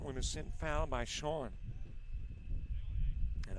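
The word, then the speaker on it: Shoen: As that one is sent foul by Shawn. And I think that would be the correct pronunciation for S-H-O-E-N, because isn't that the same Last name spelling for Neil Sean, the guitarist and vocalist for Journey.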